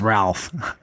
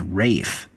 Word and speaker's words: Ralph: Nehru's guy, it's Ralph, which I thought was Ralph. Ralph. Yeah. Was it Ralph? No, it has been explained to me. Another way to pronounce his name is Rafe.